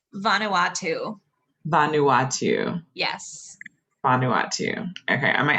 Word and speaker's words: Vanuatu: to make sure i get that correct vanuatu vanuatu yes vanuatu okay i might actually one more